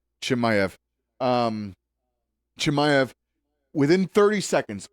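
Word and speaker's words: Chimaev: How you pronounce his last name? Hamza. Chimayv. Chimayv.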